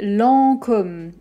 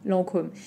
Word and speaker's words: Lancôme: le dernier pour aujourd'hui lancôme alors normalement avec l'accent circonflexe comme ça sur le haut on va dire aux très fermé l'an comme lancôme pour la réalité c'est que moi je prononce plus comme sommes beaucoup plus ouvert que le ô lancôme comme vous voulez lancôme lents comme